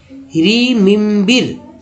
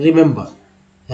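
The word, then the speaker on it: remember: इस तरह से ई पढ़ दे तो क्या उच्चारण हुआ, रीमिम्बिर, रीमिम्बिर। ऐसा लग रहा है क्या, इस तरह का उच्चारण हो सकता है। सभी को जानते हैं कि ये है रिमेंबर।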